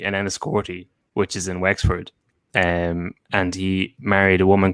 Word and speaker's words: Wexford: Do you want to go back and put an X into Wexford, Kevin, and not just a WS? Westford.